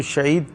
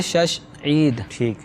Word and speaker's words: شش عید: نسل چلتا رہتا ہے۔ تو اصل لفظ ہے شش عید۔ تو یہ شوال المکرم